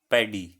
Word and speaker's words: paddy: हमारा पहला शब्द है पैडी। पैडी, इसकी स्पेलिंग है PADDY।